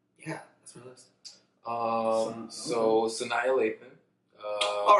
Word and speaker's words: Sanaa Lathan: Shannon Lathan. Love you. Love Shannon Lathan. Yeah, that's my list. So Sanaa Lathan.